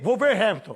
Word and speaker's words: Wolverhampton: Se você vê com W, você não fala o nome do desgraçado. Mas você bota o V, Wolverhampton. Wolverhampton. Você fala rápido. Você fala rápido, Wolverhampton. Wolverhampton, você não precisa pronunciar todas as vogais, todas as consonantes.